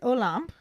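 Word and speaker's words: Olympe: hagrid explains that he was having tea with olamp is apparently the proper pronunciation according to the youtube video that i watched because i was saying a limp or olympia i didn't really know how to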